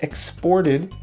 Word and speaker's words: exported: exports to Cuba right so here we have a verb and a noun when it's a verb the the stress is on the second syllable exported and here when it's a